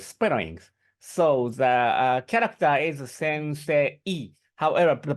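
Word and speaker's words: 先生: So the character is sensei. However, the pronunciation is sensei, wrong e, sensei sound.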